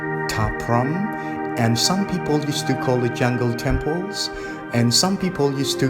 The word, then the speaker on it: Ta Prohm: This temple we call Ta Prohm. This spelled with T-A-P-R-O-H-M.